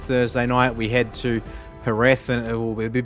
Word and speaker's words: Jerez: I call it Jerez. I know it's supposed to be pronounced F, but it's just the Aussie slang in me. It starts with a J, so it's Jerez. A little like Jose instead of Jose.